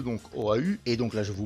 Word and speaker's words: Oahu: Et donc vous allez me dire, oui, mais pourquoi cette île Oahu? Enfin, on le prononce, j'ai vérifié, on le prononce sans le U, mais moi je le prononce comme je peux, donc Oahu.